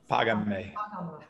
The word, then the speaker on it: Págame: Págame. Págame. Págame. Págame. And all would have accents on the first syllable, right?